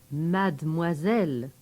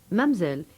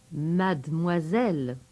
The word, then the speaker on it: mademoiselle: And remember to pronounce this one mademoiselle. Mamselle is strictly for English school stories. Mademoiselle.